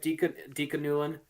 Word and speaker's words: Dika Newlin: Is that how the name is pronounced? Yep, Dika Newlin.